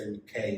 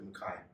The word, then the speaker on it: McKay: question do you get annoyed when people say okay instead of makai yes and no at the start i used